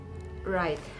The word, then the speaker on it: right: And also in the word like right, R-I-G-H-T, the letter G and H is silent and it is pronounced as R-I-T, right. And next silent letter we have is H.